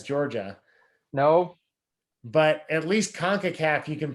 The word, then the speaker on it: CONCACAF: be another show rutledge pronounces sports names conor pronounces jordana names and we'll see there's a summer show for you tune in um concacaf it's concacaf right you got it nailed all right i